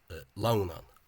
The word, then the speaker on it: Lughnasadh: But the stress remains on the first syllable, Lughnasadh.